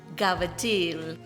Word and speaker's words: cavatelli: sausage ricotta and pomodoro it's spelled cavatelli but it's pronounced gavitil anyways the recipe was